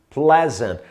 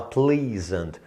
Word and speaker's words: pleasant: Porque tem muita gente que lê errado, vê isso aqui, pensa no por favor, né? E fala please, aí fala pleasant. Não, tá errado, completamente errado. A pronúncia é pleasant, tá?